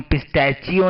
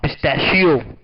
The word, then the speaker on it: pistachio: इसे हम पिस्टैचियो नहीं, च चम्मच नहीं, श शलगम। हाँ, पिस्टैशियो श है, च नहीं, च चम्मच नहीं है, श शरीफा है।